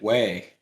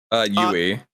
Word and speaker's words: Yui: Is it Yui or is it Wei? Yui. Yui. I just kept hearing them say, probably hear them say Yui. Yui. Right, Probably because it's a little bit with the way they pronounce it. It's the U. You probably can't hear it.